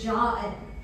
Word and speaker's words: Jia En: it, my name is Jia En. And to pronounce this correctly, you just need to do your best Bogan accent, where you add the Y, the letter Y, to the word jar.